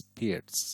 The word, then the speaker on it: Pirc: the pirates bishop and oh by the way perk is actually the mispronunciation uh the correct pronunciation is pierced so pierce defense and anyway who cares about